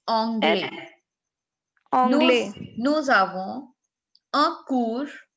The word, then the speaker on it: anglais: It's anglais.